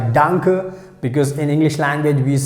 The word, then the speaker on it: danke: can use this word danke that's how we have to pronounce danke danke so we can use